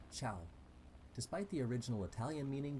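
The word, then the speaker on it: Tschau: Just remember to pronounce it as ciao.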